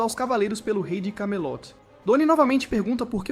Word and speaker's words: Camelot: Sin elogia sua determinação, mas diz a ele que se pronuncia Camelot, não Kemi, seja lá o que Percy disse.